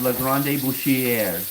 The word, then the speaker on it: La Grande Boucherie: The restaurant I took my mother to is La Grande Boucherie.